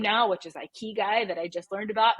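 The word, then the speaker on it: ikigai: I've almost become obsessed with and it's called I key guy and it's this concept of finding this balance and just in case people aren't sure it's spelled i k i g Ai and it's pronounced I Kei and essentially what it stands for is life's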